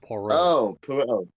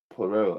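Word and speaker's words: Poirot: this dispelling is Pio iro T but it's pronounced poro poro okay yeah I think I might know who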